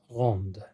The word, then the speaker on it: rendent: Donc, au singulier, on ne va pas prononcer la lettre D et au pluriel, on va l'entendre. D'accord, ça veut dire il, elle, on rend, Mm-hmm. mais pluriel, il, elle rendent.